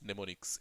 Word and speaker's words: mnemonics: Okay, we call them as mnemonics. M is silent over here.